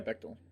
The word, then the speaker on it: Bechdel: Bechdel? Is that how you pronounce that? Yeah, Bechdel.